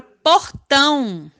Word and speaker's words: portão: Então, aqui temos o exemplo da palavra portão. E aí, onde podemos identificar? Portão. Em portão, a sílabazinha tão é a mais forte, não é? É a que a gente precisa de mais força para pronunciar. E na palavra vestido?